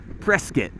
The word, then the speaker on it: Prescott: it but we are in prescott arizona right now or as the locals say prescott this is believe it